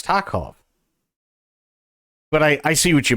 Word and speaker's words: Tarkov: Well, that's how they pronounce it. It's Tarkov.